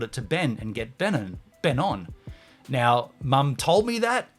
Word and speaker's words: Benon: When I moved to Adelaide, I purposely renamed myself Ben-on. The pronunciation, it's spelt Benon, but it's said Ben-on.